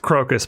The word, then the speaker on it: Crocus: belly of a mouse it's pronounced crocus by the way oh